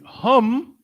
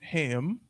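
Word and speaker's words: هُمْ: don't look at me it's gonna be hum not to ever be pronounced ham hum and hun this is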